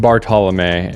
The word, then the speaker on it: Bartolomei: Bartal. Everybody mispronounces it.